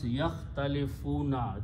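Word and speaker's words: يختلفون: And alif is not pronounced, so it becomes yakhtalifuna.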